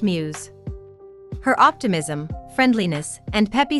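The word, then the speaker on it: μ's: her school's idol group mu s pronounced muse her optimism friendliness and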